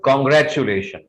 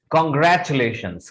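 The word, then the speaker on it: congratulations: This is नॉट कॉन्ग्रेचुलेशन। आप जहां भी किसी को मुबारकबाद देना चाहते हैं, कॉन्ग्रेचुलेट करना चाहते हैं, तो यू कैन से कॉन्ग्रेचुलेशंस, कॉन्ग्रेचुलेशंस, कॉन्ग्रेचुलेशंस।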